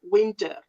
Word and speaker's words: winter: We spell it exactly the way you spell it. Winter. But we say winter.